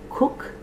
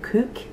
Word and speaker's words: Kook: There's also Cook or Kook, K-O-O-K, and Charles.